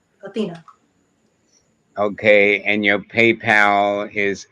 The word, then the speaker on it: Athenia: eye in here but it was still pronounced athena okay and your paypal